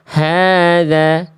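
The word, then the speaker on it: هذا: H-nya di sini dua harakat karena ada fathah. Ada fathah tegak harusnya hadza. Hadza. Tadi Bunda hadza ya.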